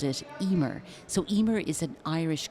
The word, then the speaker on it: Eimear: So Emer is spelt EIMEAR in Irish, in the Irish language, and EIM stands for Emotionally Intelligent Model.